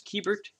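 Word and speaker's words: Keibert: here's a keyboard ruiz i thought it was kybert but it is keybert in fact it was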